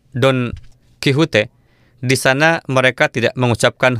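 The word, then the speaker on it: Don Quijote: dalam bahasa Spanyol diucapkan Don kihute di sana mereka tidak mengucapkan huruf x dalam bahasa Spanyol mereka mengucapkannya dengan H atau bunyinya merupakan huruf jadi pengucapannya adalah Don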